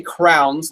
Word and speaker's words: crayon: I call them crayons, but they're supposed to be crayons or crayons. So my wife's family says it as crayons. I say crowns, like we put something in your head, but